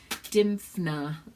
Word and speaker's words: Dymphna: okay st. Dymphna Dymphna is how you say it she's a very little